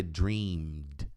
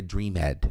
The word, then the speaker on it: dreamed: Aqui o sonhado é dreamed, não é dreamed. Não, esse E não é pronunciado.